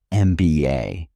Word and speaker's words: MBA: An MBA degree MBA is pronounced MBA starting with the vowel sound e.